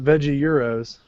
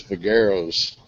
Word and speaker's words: Vegueros: It's not veggie euros. I thought it was Vegueros.